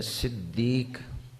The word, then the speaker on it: صدیق: صدیق کے حوالے سے۔ اگر صدیق جو کہ اصل تلفظ ہے صدیق، تو اس کا معنی